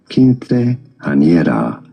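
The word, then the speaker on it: quinceañera: How do you go about pronouncing it? In Spanish, it is said as kinte ana.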